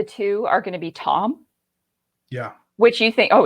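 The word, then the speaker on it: Thom: are going to be tom yeah which you think oh it's tom but it's spelled t-h-o-m but the h is silent and then uh this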